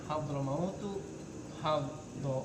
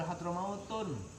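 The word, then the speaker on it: حضرموت: Kayak gini, hadramautu, hadoro dengan mautu. Bacanya nggak boleh hadramautun, atau nggak boleh baklabakun.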